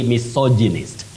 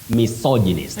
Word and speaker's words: misogynist: go about it that is the way to pronounce that word bety you say misogynist misogynist so and so is a misogynist okay misogynist